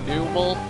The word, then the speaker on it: Numel: And before any of you say that it's pronounced Numel, because I watch the Pokemon episodes and it's pronounced Numel in there, and in the English language, when you see a vowel, a consonant, and a vowel, you're supposed to have a long vowel consonant vowel sound for the first letter, and